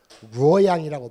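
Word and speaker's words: 洛阳: 낙양, 루어양이라고 발음을 하죠.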